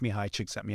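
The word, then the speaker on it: Csikszentmihalyi: experience and you'll see it's it's Mii it's pronounced Mii chicks at mihi and he's kind of known as The Godfather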